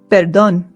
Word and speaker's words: perdón: Our next apology is perdón. Perdón. Perdón. Perdón. Remember that the accent in Spanish indicates where the stress in the word is. So this is not perdón, it is perdón.